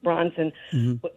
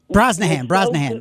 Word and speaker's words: Brosnahan: Maisel, Rachel Bronson, Bronson, I think is her name. Brosnahan, yeah. Brosnahan, right. I knew I was pronouncing it wrong.